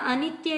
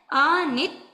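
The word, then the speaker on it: अनित्थ: सही करें इथ अनित्य किसी ने कहा अनित्य नहीं है अनिथ अनिथ ं ठीक है वंद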